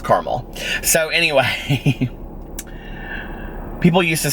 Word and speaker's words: Carmel: It's called Carmel, Indiana. Anyway, it's like Carmel, California, but it's pronounced Carmel.